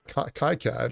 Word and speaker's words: KiCad: is a mode for kai-cat or kicad depending on how you pronounce it so that's got a